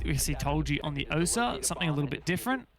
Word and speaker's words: Osa: Apparently it's not Osa. Apparently it's Osa. So apparently we've all been saying it wrong.